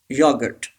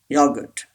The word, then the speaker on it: yogurt: pronounced missile number two yogurt yogurt yes this R is not pronounced yogurt yogurt say this